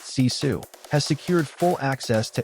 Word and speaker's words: CISA: The cyber security and infrastructure security agency or CSA pronounced CESU has secured full access to Anthropic's mythos preview model under a program called Project Glasswing.